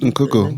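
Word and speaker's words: Nkunku: Christopher Nkoko, Nkuku, Nkuku, yes. yeah, Bundesliga, and if Gnabry's on sale, get him as well.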